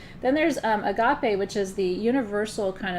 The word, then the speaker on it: agape: So pragma or pragma, I'm not pronouncing these in it's agape and not agape, but I'm not using my good Greek accent because it's complicated and I don't want to confuse people.